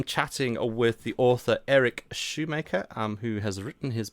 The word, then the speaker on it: Schumacher: who is Eric shoe Shoemaker I I notice your name is spelled um like you would say Michael Schumacher the Formula One driver but you say Shoemaker um are you related